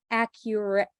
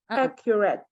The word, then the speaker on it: accurate: you would put it for the T sound but don't say accurate accurate accurate accurate that is the held T sound of American pronunciation it is one of